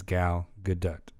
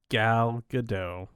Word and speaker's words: Gal Gadot: so i went and looked it up her pronouncing her name as gal gadot yeah everybody else says gal gadot so yeah well that's wrong and everybody else